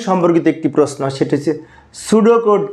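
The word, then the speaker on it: pseudo: হচ্ছে গ্রিক শব্দ এবং সুডো বানানটা কিন্তু পি এস ইডি ও এটা কিন্তু বানানটা আগে কিন্তু পি আছে তাই না সুডো হচ্ছে গ্রিক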